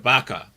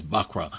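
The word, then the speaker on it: buckra: So with regard to that, they said Baka. So I'm like, I said, y'all said it wrong. It's Bakra.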